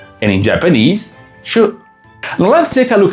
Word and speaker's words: 守: In Mandarin, it's read 手, and in Japanese, 手.